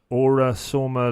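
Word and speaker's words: Aura-Soma: There's one I read around Aura Soma Level 3 Practitioner. Is that pronounced right?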